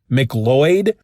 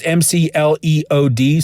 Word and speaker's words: McLeod: I always want to say McLeod, but it's McLeod, so McLeod.